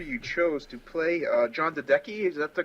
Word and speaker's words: Dedeke: I gotta say, the actor you chose to play John Dedeke, is that the correct pronunciation? Dedeke.